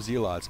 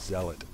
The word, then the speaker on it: Zealot: with a a zot I've always called them zots but I think the proper pronunciation is Zealot because that's what I hear people say all the time but just for for